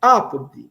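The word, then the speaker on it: apud: Apode ao lado de, vejam que é ápode. A sílaba forte é no a ápode. São duas sílabas ápode.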